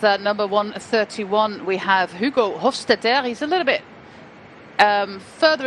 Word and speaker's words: Hofstetter: So you can imagine that Hofstetter, as you should pronounce it apparently, is a man who